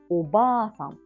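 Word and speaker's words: おばあさん: So A is repeated. Then when you pronounce it, oba-san.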